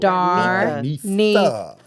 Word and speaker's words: Darnetha: Darnetha. That's why. Okay. I'm one of the Nethas. So that's what I was like saying, that word. Aretha Franklin.